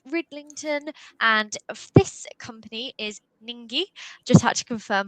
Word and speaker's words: Ningi: the lovely Pete Ridlington, and this company is Ningi. Just had to confirm how to pronounce it, but I've been told that's spot on.